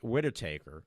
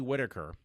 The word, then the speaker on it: Whittaker: slice of heaven so seeing Jodie would it widow take her off would it take her there I go I said it wrong seeing Jodie Whittaker and even the last doctor who God loved